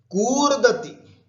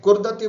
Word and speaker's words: कूर्दति: कूर्दति, है ना, जंपिंग, कूर्दति। ध्यान रखें, कुर्दति बोलेंगे तो गलत हो जाएगा, कूर्दति, ह्रस्व नहीं है, दीर्घ है, कूर्दति।